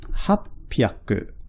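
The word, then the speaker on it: 八百: So the kanji for 8, the kanji for 100, and that's pronounced hapyaku. Oops.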